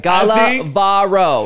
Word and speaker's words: Gala: everybody correct me and you say it like what the southern twang like nothing makes sense like Gala okay and then v a